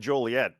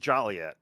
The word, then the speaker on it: Joliet: Yeah, and I'm glad you that you said Joliet because uh it's not pronounced jolly yet because there's nothing jolly about it.